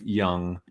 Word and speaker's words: Jung: face Carl gust of young and it's uh young is spelled g u sorry j-u-n-g um Carl Gustav young